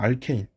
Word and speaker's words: 알케인: 알케인. 알케인이라고 하고, 또는 알칸이라고도 해요. 이게 지금 나라마다 명칭이 그 발음이 달라서 그렇게 나오는 현상인데, 일단 알케인이나 알칸이라고 나오고, 그 화학식을 쓰면 이렇게 됩니다.